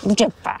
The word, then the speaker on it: Gjipe: Pomiędzy Dermi a Himare jest coś pięknego, czyli kanion Gjepe. Wymowa tego albańskiego jest tak trudna. Zapytaliśmy tutaj pasterza KUS, jak się wymawia poprawnie tą nazwę, jakieś Gjepe. Gjepe.